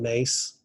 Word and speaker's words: Myss: So along those lines, I'm sure you're familiar with Carolyn Mace. Yes. So for those listeners who've never heard of her, her last name is spelled MYSS, and Carolyn is a